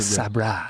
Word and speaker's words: Sabra: Is it Sabra? Sobra? Sabra. They make a great roasted. It's pronounced Sabra.